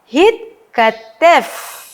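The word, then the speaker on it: התכתב: Jadi di sini ada silent sewa. Ya. Hitkatev. Ya, masih ingat? Karena dia adalah konsonan kedua. Ya. Yang di mana konsonan sebelumnya itu juga memiliki sewa e memiliki nikud. Ya. Jadi kita membacanya dengan hitkatev. Ya, hitkatev.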